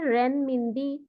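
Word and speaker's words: 人民币: ওরা actually RMB এর actually উচ্চারণ হচ্ছে রেন মিনবি।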